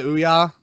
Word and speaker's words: Ouya: Didn't the Ouya, is that how you say it? Yeah, the Ouya.